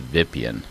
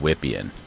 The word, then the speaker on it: Wippien: I think the author of this program is Croatian, and I suspect he may have wanted it pronounced Vipien instead of Wippien. Vipien, get it? VPN, Vipien.